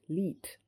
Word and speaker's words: 1337: He decided to use a meme from the world of coding and call it 1337. Pronounced Leet. The numericals kind of look like those letters.